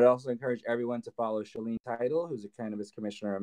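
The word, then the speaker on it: Shaleen Title: And Say her name one more Shalene Title. Can you spell it?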